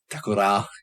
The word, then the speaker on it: Takora: Takora, got to stress the last syllable.